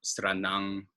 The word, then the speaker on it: Sranan: The one thing to watch out for is that final N is pronounced as a NG, like a sound. So Sranan, Tongo.